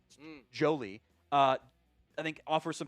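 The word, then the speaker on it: Joly: Um, uh, Jolie is how that's pronounced. It's not Jolly. Jolie, uh, I think offers some pass catching.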